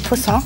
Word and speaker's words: poussin: Chicken is my favourite thing ever, so we've got a little poussin. Poussin? Is that saying it wrong? Poussin, yeah.